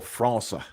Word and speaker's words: França: I can't remember how to say the squiggly C in Portuguese in Brazil. It's like a S sound, isn't it? So Matheus França, I think, is how they would say it.